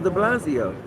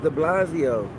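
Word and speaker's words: de Blasio: Mayor Bill the blaz are you saying his name wrong cuz I'm Bill the blazo oh okay I don't think I don't think it's Bill it's the Blasio I know the Blasio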